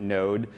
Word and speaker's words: Node: unfamiliar with node it's it's spelled node.js but usually just pronounce it node that the.